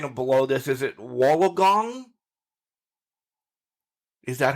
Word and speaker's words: Wollongong: Is it Wollongong? Is that how you say it? Wollongong.